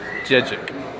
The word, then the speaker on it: Dziedzic: is the actual pronunciation JJ JJ JJ JJ yeah DZ is like a gym so you can call